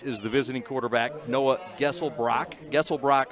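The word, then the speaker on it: Geselbracht: the visiting quarterback noah gessel brock gesselbrock spell g-e-s-e-l-b-r-a-c-h-t the t is silent the t is silent he's a 65 percent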